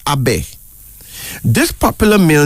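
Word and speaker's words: Abay: another male name is a big a b-a-y pronounced Abe this popular male name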